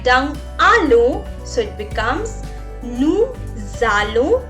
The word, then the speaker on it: nous allons: With nous I write down allons, so it becomes nous allons. Why I'm making a z sound? Because s is followed by a vowel. So you will say it as nous allons.